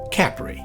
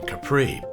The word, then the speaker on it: Capri: The locals say Capri, which takes all the romance out of the name Capri, but I will bow to the local pronunciation.